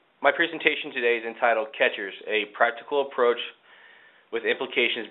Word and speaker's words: QuEChERS: different ways of saying catchers well it is pronounced as catchers as you can see on the screen here